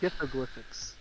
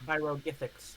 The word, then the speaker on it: pyroglyphics: gith doing gith things glyphics glyphics yes and so these monoliths wa you said it wrong it's pyro gics pyroglyphics pyro gics so